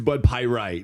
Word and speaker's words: But Pyrite: similar yeah yeah yeah and have I been mispronouncing the name of the band the whole podcast oh it's butd pyite yeah like Fool's Gold oh okay cuz Pat